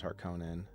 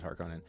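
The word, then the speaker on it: Harkonnen: continue come on me the double n thing is the thing with the movie pronunciation I'm guessing yeah harken versus hark Conan versus harkonin so I see what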